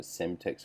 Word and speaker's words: Cemtex: Some call them a Semtex file, which is spelled CEMTEX.